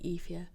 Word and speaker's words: Aoife: It's definitely Ifia. Aoife. Aoife? A-E-F-A. That's not how it's spelled.